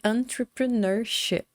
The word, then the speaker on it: entrepreneurship: Eu gosto muito de fazer o seguinte, olha, eu vou separar essas sílabas aqui para ficar mais fácil da gente entender como funciona essa pronúncia. Então, eu separei em entrepreneurship. Entrepreneurship.